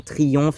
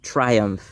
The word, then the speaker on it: Triumph: Triumph Motorcycles, donc les motos Triumph ou en français, on va prononcer ça Triomphe souvent parce que ça se traduit littéralement par triomphe mais en anglais, on prononce Triumph.